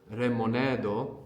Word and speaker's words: レモネード: So lemonade is remonedo. Again, we're going to have to think more about pronouncing something between an R and an L.